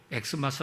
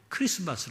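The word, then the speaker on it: Xmas: x 마스 로써 있더라도 x 마스 라고 읽음 은 안되고 크리스마스 라고 읽어야 합니다 그런데 역설적으로 이 엑스 마스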